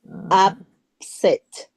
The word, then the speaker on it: upset: Where do you stress the word upset? Upset. Before or after? The first one, upset. The last one. You're pronouncing it in the second, upset. Uh-huh. So it's the second, Yes. like upset, upset, Yes. set. In the second, on the second.